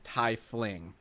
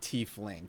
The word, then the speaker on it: tiefling: from the german word for devil which is pronounced hi so Scott and I are correct it is Thai fling not T fling came I say to cling and I'm gonna